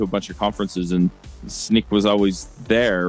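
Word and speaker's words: Snyk: Yeah, and you work for Snick? I am, yeah. That? It's always a problem pronouncing that one, so I know where it's Snick.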